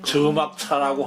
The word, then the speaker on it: 且莫車: 그래가지고 큰 딸하고 낳은 게 이제 큰 아들이 요거 이제 차자인데 이게 이제 발음을 보니까 저라고 읽으라고 돼 있어요. 저막차라고 하는 나고, 그 다음에 양지아사라고 하는 둘째 두 아들을 낳았어요.